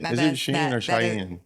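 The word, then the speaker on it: Shein: No, that's not Is it Sheen or Cheyenne? Sheen. I don't know how it's pronounced.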